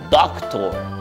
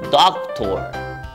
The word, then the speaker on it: doctor: como doctor Exacto pero se dice en inglés doctor con acento en la primera obra doctor Ay qué bien ni